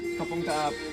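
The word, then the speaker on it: ขอบคุณครับ: Kapung kap.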